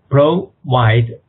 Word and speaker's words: provide: An act to provide，重新来过啊。An act to provide for the incorporation of association and the for related purposes.